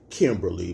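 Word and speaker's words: Kimberleigh: oh is it Kimberly because it's spelled k-i-m-b-e-r-l-e-i-g-h but I think it's really Kimberly but I'ma call you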